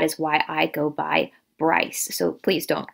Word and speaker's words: Bryce: However, the actual pronunciation of this maiden name, this surname, is Brees. The Bryces or the Breeses were such Huguenots that came over from France into the Charlestown area.